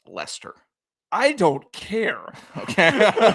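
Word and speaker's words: Leicester: I think I believe that actually might be pronounced Lester.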